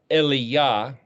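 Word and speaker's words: אליה: This will be the number 17 and 18 of this particular series that we're labeling Alef Lamed Yod Hei, which would be pronounced like Eliyah.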